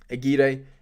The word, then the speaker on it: Aguirre: well his name's Aguirre I've been calling him aguir for a little while but that's just um my stupidity and my naivety I guess to Argentinian um football and and spelling but yeah and pronunciation Aguirre 18.988 done really well